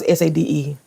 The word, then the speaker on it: Sade: They pronounce Sade, Sade.